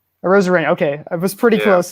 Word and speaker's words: Arozarena: Is that how you pronounce his last name? Arozarena.